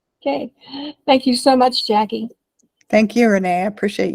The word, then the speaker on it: Jacci: um under my name which is Jackie but it's spelled funny j a c CI um and I